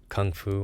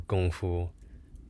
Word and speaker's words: kung fu: So Kung Fu or Gong Fu, different ways of pronouncing it.